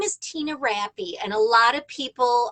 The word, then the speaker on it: Rappe: my name is tina rappy and a lot of people uh can't remember how to pronounce it so here's the key it's rappy which rhymes with happy or crappy just depends on the